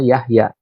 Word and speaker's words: Jahja: dulu adalah seperti ini Jahja tapi dibacanya Yahya Nah sekarang ini dibolehkan